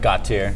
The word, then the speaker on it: Gautier: Yeah, like Gautier.